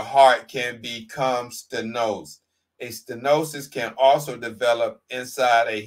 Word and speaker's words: stenosis: The term stenosis, pronounced stenosis, is defined as a tightening or narrowing in the diameter of a lumen or opening.